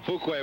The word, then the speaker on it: Fuqua: That's Fuquay. That's why I don't let you say too much, Ed, because you always mispronounce the names. Okay, back to live action now. Fuquay with the ball.